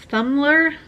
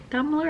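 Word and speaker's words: Thummler: completed sheets by brenna thumler dumbler i think is how it's pronounced anyway this is a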